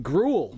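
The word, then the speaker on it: Gruel: Like the food. Grul Grl, which is funny.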